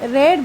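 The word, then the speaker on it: read: vice में book is रीड बाय रेड बाय her sorry रीड का third verb लगेगा उसकी स्पेलिंग सेम होती है लेकिन उसको पढ़ा रेड जाता है बुक इज रेड बाय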